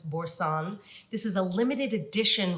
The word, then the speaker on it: Boursin: B-O-U-R-S-I-N. If you're wondering how to pronounce it, it's Boursin.